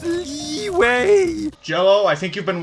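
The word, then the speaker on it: Liyue: ] up or what it's pronounced leeway jello i think you've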